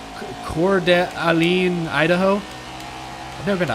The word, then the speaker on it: Coeur d'Alene: Shout out from, oh my gosh, how do you pronounce that town name? Coeur d'Alene, Idaho?